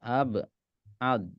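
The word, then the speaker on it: أبعد: Ab'ad. Salah. Ab'ad. Ab'ad. Pakai dal.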